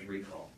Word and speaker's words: reQall: Well, actually, we did make a product out of it, and that is reQall. And reQall... which is spelled with a Q, by the way.